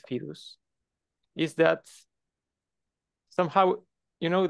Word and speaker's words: fidus: what's good about fedus this is how I pronunciate fidus is that somehow you know that fidus is